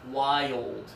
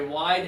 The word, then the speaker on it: wild: So I like to tell students, slow this one down to 2 syllables. Wild, okay?